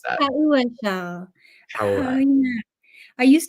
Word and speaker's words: paua: No, it's PAUA, which I'm not sure how to pronounce that. Pauwa.